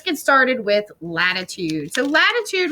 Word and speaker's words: latitude: started with latitude so latitude rhymes with flat right right lat rhes with flat latitude goes around the